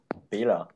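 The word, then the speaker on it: Bela: Bila. Wait, what? You write it B Okay. E L A and you pronounce it Bila.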